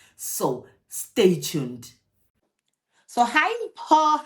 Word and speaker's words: Mpho: Actually, that's how the name is pronounced, Mpho. But ever since I've come to Germany, I've had to change the pronunciation of my name.